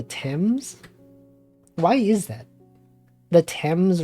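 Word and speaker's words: Thames: do you know the the river in England which is spelled t h m s it's not the themes it's the temps why is that the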